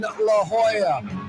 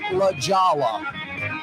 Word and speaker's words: La Jolla: Number 9 from his casa in La Jolla. Or is it pronounced La Jolla? La Jolla, California.